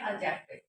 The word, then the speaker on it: adjective: तो आपको मैं बता दूं कि यहाँ पे जो हमारा डी है वो साइलेंट होता है इसलिए हम यहाँ पे इसको बोलते हैं एडजेक्टिव, जिसको हम हिंदी में बोलते हैं विशेषण।